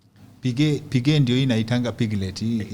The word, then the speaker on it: Piguet: Piguet Piguet ndio inaitangwa piglet eh yanguruwe. Okay, that's how it's pronounced. Ah, okay. Piguet, p i g u e t.